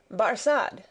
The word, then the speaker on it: Barsad: the better his name barsad said defarge making it French by pronunciation but he had been